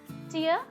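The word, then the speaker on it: tear: लेकिन फिर मुझे पता चला इंग्लिश सीखने के बाद that it इज़ नॉट टायर, इट इज़ टीयर. Okay, it is pronounced as टीयर, नॉट टायर.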